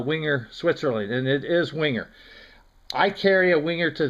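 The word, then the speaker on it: Wenger: to find out exactly how their name is pronounced and it is winger the reason for it is and i didn't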